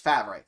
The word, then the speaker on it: Favre: Look at how it's spelt, and then you tell me. It's F-A-V-R-E. If it was Favre, it would be F-A-R-V-E.